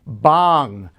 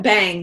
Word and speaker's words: Bhang: from bong corporation right did i say it right that time we say we call it bang in the u.s i know it's a u.s but you're it's it's derived from an indian word yes so there's bang